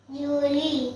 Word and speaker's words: Juillet: उसके बाद Julie. जूली, उच्चारण जूली पढ़ा जाता है, लेकिन स्पेलिंग है JUILLET, और इंग्लिश में उसको जुलाई बोलते हैं, JULY।